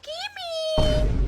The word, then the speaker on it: Kimmy: si Kimmy present ma'am Actually mam mali yung pronunciation niyo sa pangalan ko O bakit Anong dapat yung pagka pronounce dapat po kimy ah ganun dapat po ma'am Kimmy Ayan